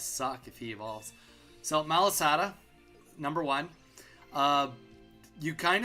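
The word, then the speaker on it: Malasada: It's Malisada. I'm pretty sure like 99% sure it's Malisada. Uh for the guy's going to he's got a this is going to suck if he evolves. So Malisada number one.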